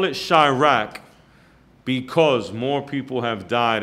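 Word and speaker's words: Chi-Raq: there's a movie called Chi-Rack. Chi-Rack. It's C-H-I-Rack. And they spell it like Iraq, but instead of the I, it's Chi, C-H-I.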